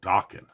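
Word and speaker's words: Dokken: was a band called Dawan you know the one that rhymes with Rockin uh one of the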